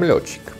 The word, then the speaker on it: Lorchik: And I think that for the last 2 years, I pronounced my own name wrong. I'm Lorchik.